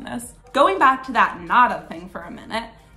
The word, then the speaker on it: nada: in most Spanish dialects when you say the letter D in the middle of two vowels like in a word you don't actually say the letter D so like take the